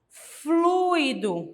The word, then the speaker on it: fluido: mesmo caso de gratuito nós temos aqui o que 1 um ditongo em que nós temos uma vogal e uma semivogal Então qual que é mais forte que eu disse a vogal Então como que eu falo fluido muito bem a água